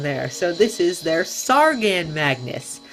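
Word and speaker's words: Tsaagan mangas: on their pre-order site this guy is apparently pronounced sargan Magnus I wasn't even close so that's definitely a good thing that I look down there so this is their sargan Magnus not their tasagna or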